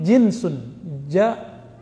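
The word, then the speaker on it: جنس: Kalau ini jinsun, jim nun sin.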